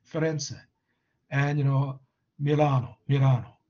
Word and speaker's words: Firenze: in italy right uh but in english florence actually in italian it's ferense ferenze and you know milano